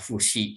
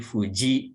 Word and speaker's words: Fuji: Jadi tidak dibaca Fushi sang, tapi Fuji sang.